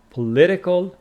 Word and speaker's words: political: and you know that it is political with distress on the second syllable but politics politics first